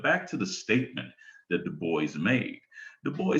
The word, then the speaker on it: Du Bois: wanted his name pronounced many people have tried to say dubois but the boys himself says i'm not a frenchman so i prefer the anglicize the enunciation of my name but back to the